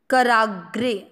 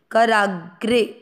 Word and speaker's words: कराग्रे: वह जानेंगे पहला चरण कराग्रे क अक्षर पूरा है अक्षर पूरा जब आधे अक्षर में अ मिक्स होता है तो बनता है तो करा ग्री का मतलब हुआ ग आधा और र पूरा अक्षर जो पूरा होता